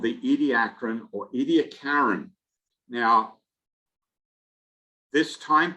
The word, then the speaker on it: Ediacaran: fossil bed for the Ediacaran. And there is some question, even in Australia, as to exactly how you should pronounce this name. Is it Ediacaran or Ediacaran? I've heard both. I prefer Ediacaran myself.